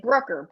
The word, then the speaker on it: Brucker: to them I said Brooker Brooker Brook you know and I and I had to phonetically do it and so finally I said Brooker rhymes with hooker they're like oh and